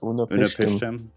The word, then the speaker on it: Utnapishtim: Yeah, Unapishtim.